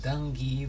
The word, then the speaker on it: Dungy: it's just decent Dungy pronounced Dungy like a long G donkey okay Donkey d-o-n-g-y dangy got it big rain my